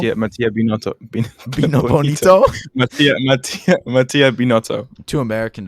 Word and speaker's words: Binotto: Mattia Bonito. Yeah, Mattia Binotto. Bonito. Mattia Binotto. Too American to pronounce his name.